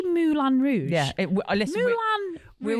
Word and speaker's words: Moulin: It's Moulin Rouge. Well, I've said how to pronounce it, and it says Moulin Rouge.